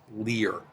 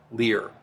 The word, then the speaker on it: Lyr: world lear's name is pronounced leer it rhymes with sneer leer or mir a dunn